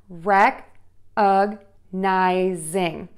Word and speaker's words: recognizing: Now, for recognizing, what happens here is when you add that ing, it actually is another beat in the word. So let's listen to that. Rec-ug-nizing. So you have four beats there. Again, syllable number one is stressed.